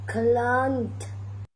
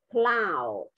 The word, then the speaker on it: cloud: Clown. Con đọc là clown, cloud, cloud. Âm áo u mà con.